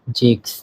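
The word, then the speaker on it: sechs: পাঁচের এখানে উমলাউট আছে আচ্ছা পাঁচ কে বলা হয় ফুংসলাউট আছে এখানে এরপরে ছয় কে বলা হয় জেক্স জেক্স সাত কে বলা হয় জিভেন জিভেন আট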